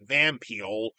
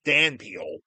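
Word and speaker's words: dhampeal: I should say they also somewhat pronounce it Van Peel with a V, but it's pronounced Dan Peel with a D, which is really weird.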